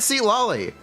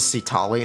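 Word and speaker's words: Citlali: haven't shown SE LLY How Could You Forget seat LLY get out of my room I'm playing Minecraft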